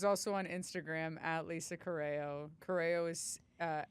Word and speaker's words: Corrao: Corral. Corral. Oh, that's how they say it in Italy. But we say coro. But my cousin Danny says coral.